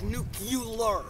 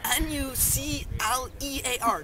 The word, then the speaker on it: nuclear: mainly because he can't pronounce n nuclear he pronounced it like nucular like Nu u l a w YZ r or something it's n u c l e a r nuclear not nucular and he also tried to say like strategery